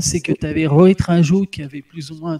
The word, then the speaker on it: Raju: C'est Rohit Raju, ça se prononce comme ça? Oui, ça se dit Raju, effectivement.